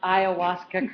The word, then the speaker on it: ayahuasca: You just pronounced ayahuasca correctly for the first time.